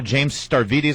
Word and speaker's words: Stavridis: KT, Admiral James Stavridis, I believe is the pronunciation.